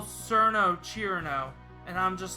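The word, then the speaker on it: Cirno: Is that how some people pronounce Cerno? Alright, whatever. Not Cherno, Chirno.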